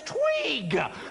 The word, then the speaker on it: Tweeg: The name is Tweeg.